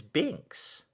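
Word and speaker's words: Binx: of that cat is binks b i and x so not spelled the same way we spelled it b-i-n-k-s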